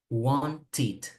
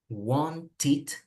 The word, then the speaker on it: wanted: So again, If the verb ends in T or D, the sound is ed. Like wanted, wanted, ended.